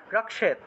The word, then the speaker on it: रक्षेत: তারপরে দেখুন 28 নম্বর কামাক্ষী, কযোগ মূর্ধন্যস্ব, কামাক্ষী চিবুকম রক্ষেত, রক্ষেত ক্ষীয় থাকায় কযোগ মূর্ধন্যস্ব উচ্চারণ হবে রক্ষেত।